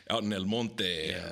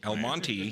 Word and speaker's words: El Monte: and and you are out in Belmonte or El Monte El Monte has might be pronounced out here yes you